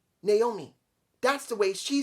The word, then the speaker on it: Naomi: is that that's the way her name is pronounced naomi that's the way she says it show respect